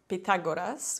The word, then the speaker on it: Pythagoras: If so, let me introduce your best friend, Pythagoras. This guy, or I should say Pagoras, which is correct Greek pronunciation.